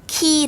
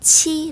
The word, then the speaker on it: qi: 자꾸 무 가 필요합니다 3번 qi 라고 표기된 이 한어 병음 은 키 라고 발음합니다 정답은 5 아님 x 정답은 x 입니다 중국 와의 한어 병음 에 있는 방법은 영어로 에 있는 방법과는 다릅니다 qi 및 치 라고 발음합니다 오늘은 제 1과 발음